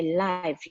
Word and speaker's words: lived: Yeah, many times people don't pronounce this word right. So we have to say lived or I live, right?